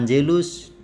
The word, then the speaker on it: Angelus: pada waktu berdoa Hai Angelus Domini Nun siap with Mary Ann Jell us lihat perhatikan Gedi putih dibaca C maka Angelus bukan Angelus bukan Angelus Domini biasa nuncy Avid Teddy